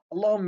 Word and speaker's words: الله: نلاحظ أن اللام في لفظ الجلالة جاءت مفخمة، ولكن استمع ولاحظ نطق اللام في الأمثلة الآتية: بالله، قل اللهم، في دين الله، وينجي الله. لعلك لاحظت أن لام لفظ الجلالة جاءت مرققة.